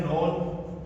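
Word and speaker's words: known: से ही बनता है नॉन के एन ओ डब्लू एन नॉन तो इसमें भी के हमारा साइलेंट रहेगा।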